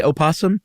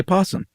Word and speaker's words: opossum: dog and you know you can use either one you can say opossum you can say possum you can spell it opossum you can spell it possum yeah and apparently in